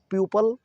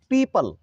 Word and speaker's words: people: इसको लोग बोल देते हैं प्यूपल या प्यूपिल। अक्सर मैंने देखा है गलत इसका प्रोनाउंसिएशन करते हैं। PEOPLE इसको बोलते हैं प्यूपल या प्यूपिल, जबकि सही उच्चारण इसका है पीपल।